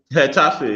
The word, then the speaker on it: Getafe: How do you pronounce it? Getafe or Getafe? Moise, am I correct? Getafe, yes.